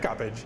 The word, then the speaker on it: Coppage: Coppage, yes.